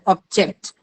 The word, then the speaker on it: object: used as uh uh when it is used as a noun it takes the stress on the first syllable so object okay object so object is a noun and when you use it as a verb it is object okay I object to your plan okay please bring me